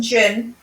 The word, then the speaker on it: Djinn: It's just Jinn. A Jinn. Yeah, you don't yeah, don't pronounce the D.